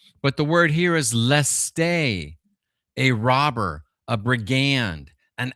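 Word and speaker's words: λῃστής: Because the word is really leste. That's how you pronounce it. Leste or leste.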